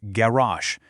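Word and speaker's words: גרש: They were garash, pronounced garash, meaning driven out or exiled.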